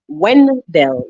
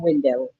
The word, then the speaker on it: Wendell: Wendell, not Wendell.